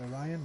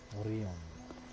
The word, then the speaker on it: Orion: I have pronounced it Orion my entire life. I will attempt to change that. Orion.